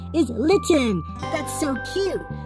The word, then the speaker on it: Litten: His name is Litten. That's so cute. Litten rhymes with kitten.